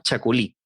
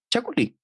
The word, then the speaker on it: Chacolí: Y efectivamente en Chile hace 200 años que se produce Chacolí. Ahora se escribe distinto, se escribe castellanizado, se escribe tal cual como se lee, Chacolí.